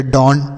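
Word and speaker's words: dawn: अब देखिए क्या है किसी भी शब्द में अगर आपको ए डब्लू लिखा हुआ मिले तो इससे आपको औ का उच्चारण करना है ऐसा मतलब ऐसा आपको उच्चारण करना है जैसे डी से लिखेंगे ड और एन से लिखेंगे न ई डब्लू है तो इसका उच्चारण अ के रूप में तो अ हो गया तो लिखा गया डॉन डी ए डब्लू एन डॉन य डॉन वो वाला डॉन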